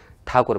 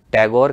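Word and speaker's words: Tagore: उनमें से एक था ठाकुर परिवार उसी ठाकुर शब्द को अंग्रेज अंग्रेजों ने टैगोर कह कर के प्रोनाउंस किया और तब से यह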